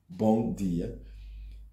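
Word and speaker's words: bom: like m in English it's pronounced as more or less n bong and you want to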